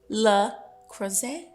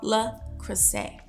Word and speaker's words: Le Creuset: It looked like it has a T. We found out the T is silent. I was so embarrassed. Anyways, so I think it's called Le Creuset.